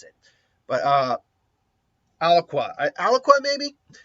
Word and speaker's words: Alaqua: No, it's A-L in the word aqua. So I think Alwaka.